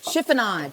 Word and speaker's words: chiffonade: So, chiffonade. Who wants it? Chiffonade.